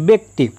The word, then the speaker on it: ব্যক্তি: যেমন ব্যক্তি, এখানে বয় জফলা আছে, এখানে কিন্তু আমরা এ ব্যবহার করছি না ব্যা ব্যবহার করছি না, কি বলছি ব্যক্তি, ব্যতীত ব্যথিত ব্যথিত ইত্যাদি।